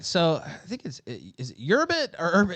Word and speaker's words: Urbit: All right, so I think is it URBIT or it's URBIT, right? Yeah, it's Urbit.